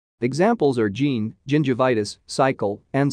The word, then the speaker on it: gingivitis: G and C assume the soft sounds of J and S, respectively, when used before E, I, and Y. Examples are gene, gingivitis, cycle, and cytology.